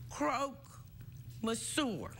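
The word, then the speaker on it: croque monsieur: a fancy name what called and it's called Croak mour did I say it right absolutely good so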